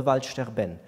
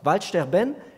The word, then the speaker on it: Waldsterben: They used the German word and pronounced it the French way. They called it le Waldsterben, which is the German word for dying forests, the French pronunciation.